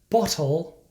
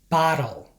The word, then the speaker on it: bottle: result of lazy speech as a general rule when T is between two vowels it is pronounced like a fast D sound to many Spanish speakers